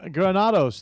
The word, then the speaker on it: Granados: And so I'm glad for our next guest to invite him in and welcome Adam Granados. Did I pronounce that right? Yes, you got that right.